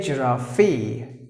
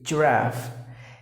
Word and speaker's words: giraffe: a zoo in a zoo giraffe don't say giraffy giraffe and the next word is glisten that T is silent so you have to pronounce the word